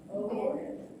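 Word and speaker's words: Eoghan: E-O-G-H-A-N. Okay. Owen. Owen. It's the Irish version of Owen.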